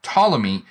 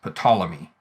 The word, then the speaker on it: Ptolemy: literally is patal ammas ptolemy right the the ptolemais is is the older pronunciation uh ptolemy is more of an english adaptation of the name and you can see